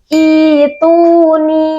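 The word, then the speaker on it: ائْتُونِي: Nah, mad badal dalam ayat ini terjadi karena hamzah berharokat bertemu dengan hamzah sukun. Nah, jadi cara bacanya kita ganti hamzah sukun menjadi mad atau tanda panjang. Sehingga cara bacanya I'tuni bikitab.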